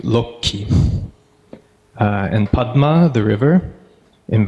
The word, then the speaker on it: Lakshmi: is shot budget and this consonant cluster in the name Lakshmi is really reduced down to low key and Padma the river